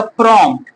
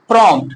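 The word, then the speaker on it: prompt: लिखा है कि जब किसी शब्द में एम के बाद पी रहे और पी का उच्चारण लाइट में हो तो उस वर्ड से पी के चिन्ह को हटा दिया जाता है ठीक है जैसे देखिए य लिखा प्रोमट जब आप पढ़िए तो लगेगा लाइट में पढ़ रहे है थोड़ा सा प्रोमट तो करना क्या है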